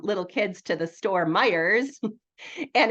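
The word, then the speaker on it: Meijer: kids to the store Meyers and it's spelled Mei which is pronounced my and then s which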